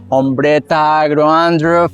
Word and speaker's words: Ombretta Agro Andruff: have the pleasure to have a wonderful curator, Ombretta Agro Andruff.